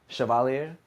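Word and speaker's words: chevalier: So, um that's uh French shavalier. So, um I wasn't even close. Yeah. And it obviously you pronounce it differently, but it's interesting.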